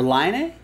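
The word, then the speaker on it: Laine: That's gonna go to, it's gonna go to Matthew Lane and the Niners, or Line A? Which is how Patrick Line pronounces his name, I believe, if I'm not mistaken, the hockey player.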